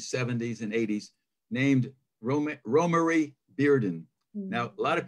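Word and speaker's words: Romare: working 1950s 60s 70s and 80s named roma romarie bearden now a lot of people call him romer i always did because it's spelled r-o-m-a-r-e so go figure it looks like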